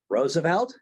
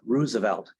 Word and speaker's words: Roosevelt: Franklin side generally speaking the uh Roosevelts of the Hudson Valley pronounce their name Roosevelt and the folks that are from Oyster Bay will generally pronounce their name as Roosevelt so if you hear somebody talking about Teddy Roosevelt that's right if you hear somebody talking about Franklin Roosevelt they're really using the wrong um pronunciation so um you know